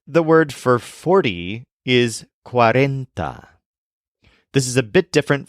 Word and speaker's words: cuarenta: to begin with the word for 40 is quarenta this is a bit different from our word